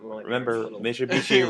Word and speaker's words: Mitsubishi: Mitsubishi rhymes with pretty.